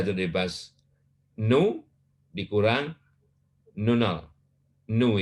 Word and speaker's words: nu: Nu ini, bacanya nu, bukan V, ya.